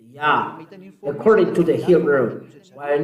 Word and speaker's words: Yah: His name is Yah. How to pronounce it's Yah according to the Hebrew. When you see this word, it is read Yah in Hebrew. I tell again, Yod and He is read Yah.